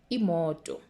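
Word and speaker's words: imoto: car and it is immortal immortal listen to my pronunciation immorto then we have a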